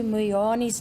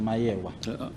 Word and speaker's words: Meyiwa: His answer to the question: the police called me and asked me if I know of Senzo Meyiwa's death.